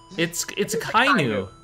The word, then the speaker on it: Akainu: Although I did hear her pronounce Akainu as Akainu. It's a Kainu. It's a Kainu. That yes, technically separately they're Aka and Inu, but in Japan when you put them together, you drop it as a Kainu.